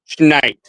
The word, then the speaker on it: Schneid: His last name is Schnaid, but it's pronounced Schneid.